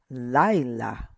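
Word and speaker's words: לַיְלָה: Laila. Laila. Emphasis right here.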